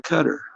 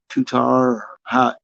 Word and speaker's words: Qatar: This is State of Qatar or Qatar. We used to pronounce it Qatar, but everybody calls it Qatar now.